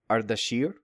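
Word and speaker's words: اردشیر: But so in modern Persian, Artaxerxes is pronounced Ardashir.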